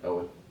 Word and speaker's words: Eoghan: Yeah, Owen. It's Eoghan. I know it's like spelled like Egan or something, but I'm like fairly certain it's pronounced Owen.